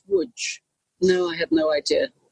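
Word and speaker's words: Łódź: came from lunch and I always thought it was pronounced lunch and it wasn't until I met somebody from there who said you know it's wood no I have no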